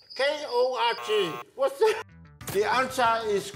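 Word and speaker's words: Korg: Starts with K. Rhymes with Fog. K-O-R-G.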